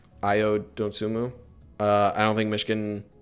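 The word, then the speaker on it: Dosunmu: outmatch us you could say uh again with don sumu is how you pronounce his name ayo dontsumu uh i don't think michigan has the guys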